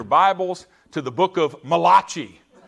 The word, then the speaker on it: Malachi: to the book of malachi it sounded italian to me the book is actually malachi but i've butchered that and said malachi very very you know